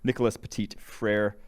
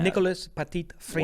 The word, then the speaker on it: Nicolas Petit-Frere: offensive tackle group with Nicolas Petit-Frere. And then I think that's got to be pronounced more French. Yeah. Nicolas Petit-Frere.